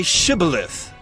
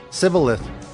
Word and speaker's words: Shibboleth: They said to him, Then say Shibboleth. And he said, Sibboleth. For he could not pronounce it right.